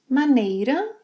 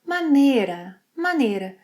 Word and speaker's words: maneira: It can be pronounced ‘maneira’ or ‘manera’.